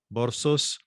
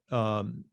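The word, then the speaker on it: Berossus: This view is at variance with other classical sources, including Borsos, for whom Chaldea and Babylonia were more or less synonymous. Borosis, I should say, excuse me, I mispronounced his name, was a writer who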